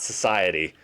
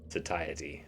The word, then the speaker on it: satiety: It's not society. It's just incorrect. Satiety? Satiety.